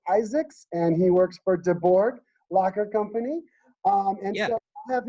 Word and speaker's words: DeBourgh: to pronounce it is de borg there's a bunch of weird uh letters in there but it's a it's a whole swedish french thing the reason that it's